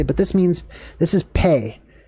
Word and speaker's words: Pe: the teaching all right pay oh it's pronounced P also this one's really